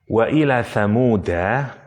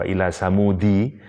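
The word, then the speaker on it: ثمود: dan kepada kaum tsamud ada qiroah yang membaca majrur waila tsamudi tapi pendapat yang paling kuat tetap karena ini nama trib ya nama suku eh dibacanya wa Ila tsamuda ak wa Ila tsamuda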